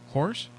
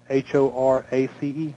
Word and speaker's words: Horace: Horse. Your name is Horse? H-O-R-A-C-E. H-O-R-A-C-E. What did you think? I said horse? That's what I thought at first.